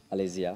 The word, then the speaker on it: Alesia: How do you pronounce it again? Alesia.